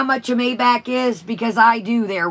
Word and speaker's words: Maybach: loopy welcome bella welcome she's like i'm gonna get a may ball i'm like it's a maybach they're sugar tits and do you know how much a maybach is because i do